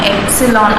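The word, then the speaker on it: epsilon: ஸோ இதை நம்ம எப்படி ப்ரொனவுன்ஸ் பண்ணுவோம்னா எப்சிலான் அப்படின்னு சொல்லிட்டு ப்ரொனவுன்ஸ் பண்ணுவோம்.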